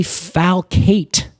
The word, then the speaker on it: falcate: the biggest thing being the leaflets are very falcate which is a fancy way of saying sickle-like